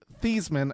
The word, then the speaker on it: Theismann: Yep, and Joe Theismann, as it's now supposedly pronounced.